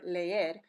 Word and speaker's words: leer: All right, when two vowel sounds come together in a word, they are pronounced separately. Example, the verb leer, meaning to read. There are two E's there. Each E sound says le, er.